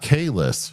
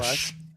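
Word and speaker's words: Kahless: Not Kais who has his name pronounced phonetically in the first five characters after his name on the Wikipedia page.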